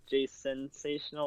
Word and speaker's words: Jasensational: Yeah, it's just Jason and then Sational. So it's Jasensational or it's Jasensational.